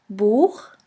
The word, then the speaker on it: Buch: After the letter A, O, U, and AU, it's pronounced like the guttural CH in the Scottish loch. Here we have the example of the word boek, which means book.